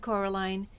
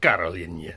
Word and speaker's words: Coraline: to you no said Coraline the old man Shrugged they funny mice they get things wrong they got your name wrong you know they kept saying Coraline not Carolin not Carolin at all he picked up a